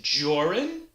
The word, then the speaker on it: Jorrun: what my name is joran that's your rhymes with or and run which is what you